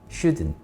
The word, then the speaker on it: shouldn't: T 발음 거의 안 합니다. shouldn't 이렇게 읽으세요.